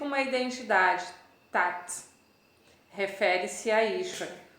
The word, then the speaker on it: Ishvara: Em sânscrito, ISV tem aquele acento, se escreve Isvara, Ishvara, o V, fica o som de U, Ishvara.